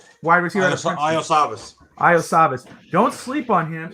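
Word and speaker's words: Iosivas: Lisavis? Evan. How do you say his last name there, Canadian? Wide receiver. out of Princeton. Iosavas.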